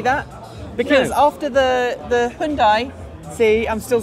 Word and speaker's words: Hyundai: I hate to say that because after the Hyundai, see, I'm still saying it right.